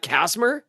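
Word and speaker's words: Kacsmar: Scott Kasmer.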